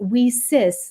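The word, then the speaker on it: WiCyS: our acronym whis and we spell that WIS pronouncing it Weis like we sisters because that's exactly what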